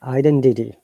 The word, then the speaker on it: identity: Now in American English, remember that The T they pronounce as D, which is called flap T, and R must be pronounced. So you are the brother from a different mother who want to be my close friend, you see. So, for example, identity. An American will say identity.